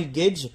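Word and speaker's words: gauge: old God gage voilà c'est un gage ça s'écrit G a u g e alors le all gage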